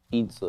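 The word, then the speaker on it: 椅子: Itza is how you say chair in Mandarin, Joey.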